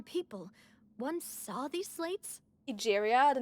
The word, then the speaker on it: Egeria: Egeria, then. I had Egeria. never met Oh, her, that's how it's pronounced.